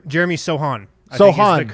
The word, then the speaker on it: Sochan: was ac actually and then we have jeremy sochan jeremy sohan so hard to correct pronunciation hot yeah well he's polish as we'll